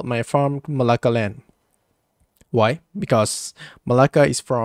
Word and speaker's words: Melaka: And we have some jokes that make me very, very laugh, and that Melaka is pronounced the same like neraka.